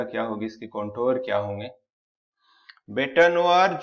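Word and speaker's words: bête noire: बेटानोआर जो होता है, बेट नोआर, जैसे बेट नोआर ऐसे इसका प्रोनाउंसिएशन होता है।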